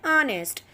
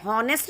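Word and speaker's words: honest: दूसरा जैसे ऑनेस्ट, ठीक है, हॉनेस्ट नहीं होता, ऑनेस्ट, तो H साइलेंट है।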